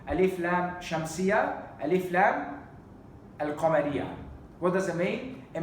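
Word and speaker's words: القمرية: Alif lam shamsiyya, alif lam al-qamariyya. What does it mean? It means that al-qamariyya, we pronounce the lam of the alif lam, al-qamariyya.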